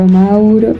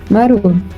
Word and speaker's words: Maruo: Se lo dio Maruo, o Mauro, no, Maruo, ¿cierto?